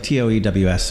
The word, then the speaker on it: Toews: Yeah, but it's spelled weird. We'll talk about that a little bit. It's like Toews.